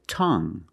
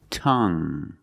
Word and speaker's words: tongue: And we have this word, tongue. The UE at the end is silent, so we pronounce it like young. Tongue.